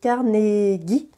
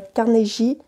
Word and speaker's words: Carnegie: partie en solo de Carn gui il me semble que ça se prononce Carn gui et pas Carn j mais je n'en suis pas certaine euh carnegis joue contre